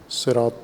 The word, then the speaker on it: صراط: علیہ وآلہ وسلم نے پسند فرمایا کہ صاد کے ساتھ صراط تلفظ کیا جائے لغت قریش میں، باقی دیگر اعراب اس کو دیگر سین کے ساتھ تلفظ کرتے ہیں۔ سین یا صاد دونوں